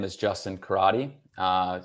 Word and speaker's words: Carotti: My name is Justin Karate. Uh, C A R O TI, if you want to spell it out.